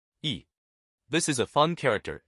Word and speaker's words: 议: In today's video, we'll teach you the Chinese character for proposal, pronunciation. Yi.